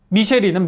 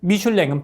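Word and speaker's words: Michelin: 미쉐린은 미국식 발음이고 미슐랭은 프랑스식 발음인데 미쉐린 타이어는 사람들이 타이어에 대한 얘기를 하길 원했어요.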